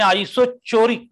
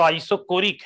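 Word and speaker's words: isochoric: अब कई लोग लगा यार सर आपने आइसोचोरिक क्यों बोला, ये तो आइसोकोरिक है।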